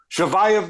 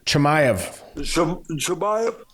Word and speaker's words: Chimaev: And Shavayev, am I pronouncing this right? His name, Shavayev? Chimaev, excuse me, might be number one now.